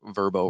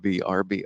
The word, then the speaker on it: Vrbo: first you've been saying you're saying it wrong because they've rebranded and it's a verb oh no not BRB oh so you pull